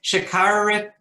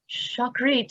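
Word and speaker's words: Shacharit: this with you rebecca so you can say it right shikharit shakharit the morning prayer chakrit as i've heard but which where are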